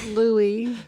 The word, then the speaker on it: Louis: So his name is either Louis or Louis. Okay. It's spelled Louis, but he's French. Okay. So, sorry. Louis.